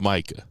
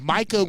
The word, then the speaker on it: Micah: And it was when Tanahashi slapped the fuck out of Micah. Is that how you say it, Micah? Yeah. Micah? No, you said it. No, you said it perfectly.